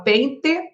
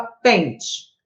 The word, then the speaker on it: pente: já muda isso naturalmente você pronuncia a palavra leite ou você fala Leite você fala pente ou você fala pente acredito que você pronuncie o som do hino lugar do e bebo leite pegue o